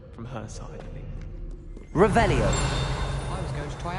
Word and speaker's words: Revelio: Revelius. You're saying it wrong. Ugh, Revelia. Much better. Revelio.